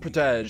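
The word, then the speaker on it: protégé: It's pronounced protege.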